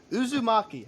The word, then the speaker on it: Uzumaki: like when I heard when I heard Uzu Uzumaki I said it right okay when I heard